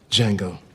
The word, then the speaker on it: Django: Django. D-J-A-N-G-O. The D is silent.